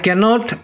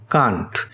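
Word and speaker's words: can't: আই ক্যানট, ক্যানটটাকে আমরা ছোট করে কী লিখতে পারি, কান্ট। এটাকে কিন্তু ক্যান্ট বলে না, হ্যাঁ এটা হচ্ছে কান্ট, উচ্চারণটা হবে কান্ট, সেটা হচ্ছে ক্যানট।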